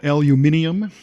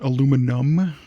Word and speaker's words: aluminium: in other countries call aluminium interesting and here we just call it aluminum and I'm learning that it's actually spelled with an extra I in different parts of the world aluminium is it's not